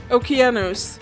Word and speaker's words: Okeanos: similar to Oceanus or the Greek pronunciation Okeanos shows up there's already the